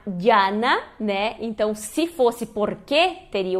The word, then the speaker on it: porque: Se diz porque, e não porquê, né, como as pessoas pensam do português.